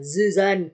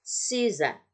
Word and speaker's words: Suzanne: Nah, bagaimana kalau S-nya sendirian tapi dia di depan, nggak di tengah-tengah? Dia tetap terbaca sebagai S. Contoh, misalnya Suzanne, jadi bukan Zuzan, susah ya. Oke, bukan Zuzan, nggak enak juga. Nah, tapi Suzanne.